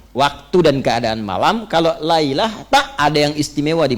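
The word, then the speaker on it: ليلة: Kalau Anda temukan di Al-Quran, setelah kata lail, di ujung lamnya ada ta'nya, sehingga hurufnya merubah cara bacanya menjadi lailah.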